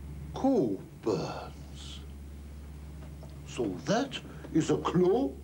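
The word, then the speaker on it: Cockburn's: Cockburns. Not quite. It's Coburns, actually. No, we don't pronounce the C-K. Coburns.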